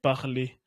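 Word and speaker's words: parlé: Y tiene la misma pronunciación. Parler parler hablar hablado.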